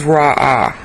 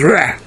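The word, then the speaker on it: רע: Now, the last time we went through Isaiah 45 here in episode 4, I pronounced this as Ra'ah. That's a resh and an ayin, and really the right pronunciation is Reh.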